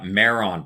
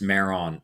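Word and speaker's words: Mairon: Uh Meron, Prince Meron of Dorne, Meron, M A I R O N, was Sauron's name when he was a Maya.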